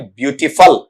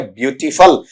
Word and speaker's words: beautiful: तो अब आप उच्चारण ये देखना, FUL यहां पर फुल नहीं बना, बल्कि क्या बना आपका फल बना है, ब्यूटीफुल, ठीक है।